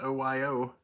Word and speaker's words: Ohio: It was originally pronounced OYO by natives and Europeans mispronounced it.